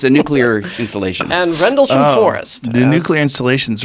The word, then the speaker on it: Rendlesham: How do you spell Rendlesham. it? Rendlesham.